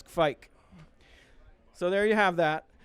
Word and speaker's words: Kveik: So it's actually Kveik with a V. And some people from the north made it sound a little more like it had an A sound, like Kveik. So basically that is how you say it. It's not Kveik or whatever. Yeah. It's not Kveik. It's Kveik.